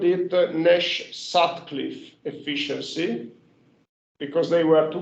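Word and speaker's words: Sutcliffe: in 1968 some references called it the nash satcliffe efficiency because they were two quarters of the same paper sad cliff it's spelled s u d c l i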